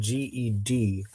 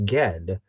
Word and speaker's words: Ged: His name is spelled G-E-D, which is a little unfortunate. It's, I think, pronounced Ged, because if it was pronounced Jed, then it would just be spelled J-E-D.